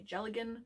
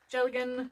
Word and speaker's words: Dealgan: It's called a Jelligan, which is spelled Dealgan because Gaelic. Because Gaelic. Gaelic makes even less sense than English. Jelligan, spelled Dealgan.